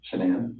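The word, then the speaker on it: Shanann: And I don't want to pronounce her name wrong, Shannan? Shannan, okay.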